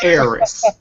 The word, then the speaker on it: Aerith: It's Eris. Okay? I don't know why they're trying to do this revisionist history and fix it. It's too late. It's Eris.